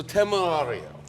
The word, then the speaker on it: Temerario: So Temerario. Yeah. But Big overview. The pronunciation was fantastic.